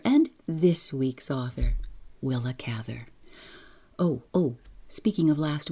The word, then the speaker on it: Cather: by ready will AA will a Cather will a catter yes I've heard all the pronunciations I'm going to try to stick with Cather I almost made it